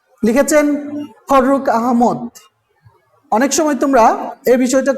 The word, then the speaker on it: আহমদ: গুরুত্ব দিয়ে খেয়াল করবে, ফররুখ আহমেদ নয়, অনেকেই ভুল করে বলো অথবা শোনো, অথবা এটা অভ্যাস হয়ে গেছে মানুষের। ফররুখ আহমদ, আহম্মদও নয়, অর্থাৎ ডাবল ম, অর্থাৎ ম ফলা উচ্চারণ করে অনেকেই সংযুক্ত ধ্বনিতে, অর্থাৎ দ্বিত্ব করে, মকে দ্বিত্ব করে আহম্মদ, কিন্তু আসলে নয়, ফররুখ আহমদ। হ্যাঁ, মনে রাখবে, আহমেদও নয়, আহম্মদও নয়, কি আহমদ, ফররুখ আহমদ কবির নাম।